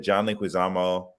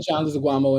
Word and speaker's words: Leguizamo: Like that 90s John Leguizamo. Was that John Leguizamo? Who was in the 90s Super Mario movie? Yeah, but John Leguizamo in that joint.